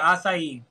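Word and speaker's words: açaí: That's how you say it, acai.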